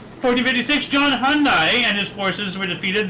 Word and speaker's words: Hunyadi: No, no, it's it's it's Hunyadi, sorry, not Hyundai. it's different. Hunyadi, I I completely misspelled mispronounced his name.